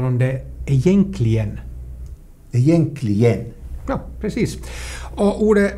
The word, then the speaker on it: egentligen: Till exempel ordet egentligen, så i Sverige uttalar de det egentligen.